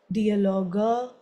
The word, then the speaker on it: Dialoge: there is at the end E, then we'll pronounce Sätze, Dialoge oder irgendwas.